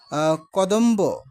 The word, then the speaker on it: কদম্ব: আছে বফলা উচ্চারণ আছে যেমন কদম্ব এখানে কিন্তু বফলা উচ্চারণ হয়েছে।